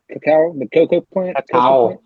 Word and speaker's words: cacao: Is it cacao? Cacao, the cocoa plant?